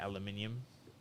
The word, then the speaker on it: aluminium: to save my life aluminium that's how we that's the correct way to say aluminium okay frea is it